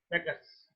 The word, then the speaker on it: Bacchus: One day he was visited by Bacchus, pronounced by Bacchus, Bacchus, one of the Greek gods.